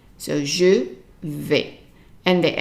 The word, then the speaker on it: vais: The AI in French is always pronounced as an A. So there are so many combination letters that are pronounced A, and one of them is the AI. So anytime you see AI, then it's an A sound.